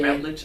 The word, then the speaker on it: Routledge: Routledge? Is that how you pronounce it? Yeah. Routledge.